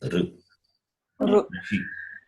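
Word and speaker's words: ṛṣi: It is, but let us learn to pronounce it as Rishi.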